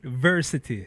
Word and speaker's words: Vercetty: have Vercetty. Yes, welcome. So how you say your Greetings, name? Like adversity? Sure. It rhymes, right?